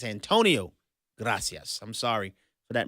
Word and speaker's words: Antonio Gracias: It's Antonio Gracias. I'm sorry for that mispronunciation.